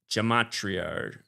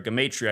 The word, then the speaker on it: gematria: It is known as gematria, or gematria. I hear it pronounced all different ways. The word is so foreign to most people that the pronunciation is not even agreed upon.